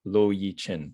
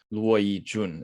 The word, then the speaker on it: Lo Yi-chin: So I would read this guy's name as Luo Yichin, but that's not quite right. It is Luo Yijun, if we're saying it right. Is that correct?